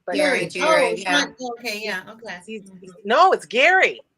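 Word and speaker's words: Gerry: r y which makes me want to say Jerry but okay yeah okay no it's Gary it's Gary I it's Gary but it's pronounced when I read it I go like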